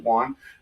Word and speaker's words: yuan: with a could use the Juan the U Yuan I pronounce it Juan um could that become